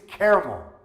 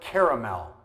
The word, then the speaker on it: caramel: The next one is caramel, or is it caramel, or caramel?